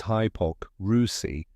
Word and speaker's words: hypocrisy: so let's break it down together the correct pronunciation is hioc rousi let's slow it down hi like in the